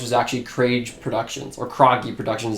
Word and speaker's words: Krage: actually create productions or Kroenke productions is how you actually pronounce it but it's spelled like crazy okay are a GE